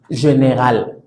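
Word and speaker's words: général: Entonces, esta es la particularidad que tiene, por ejemplo, está la palabra general.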